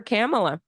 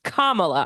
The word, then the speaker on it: Kamala: put your vote for camela but it's not camela it's Kamala I have to be better about my pronunciation Kamala okay